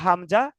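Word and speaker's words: همزة: আলিফ এবং হামজা টান হবে না।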